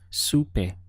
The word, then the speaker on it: supe: the word day Scooby the second sound is supe it almost reminds you of the word soup in English with an a sound at the end we have soup a just two syllables su-mei let's put both